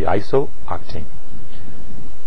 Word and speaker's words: isooctane: We're actually going to pronounce this in 2 syllables, or more than 2 syllables, and it's going to be isooctane.